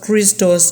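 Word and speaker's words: Χριστός: The word Christ comes from a Greek word pronounced Christos, and it is an adjective.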